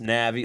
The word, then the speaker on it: Navi: it could be pronounced Navi like people pronounce what some yeah yeah people pronounce it different ways but I've always said Navy even though its with an I in the Navy